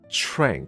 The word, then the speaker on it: tranq: 所以这个字发音是 TRANQ, 因为它是 tranquilizer, 所以 tranquilizer 是什么？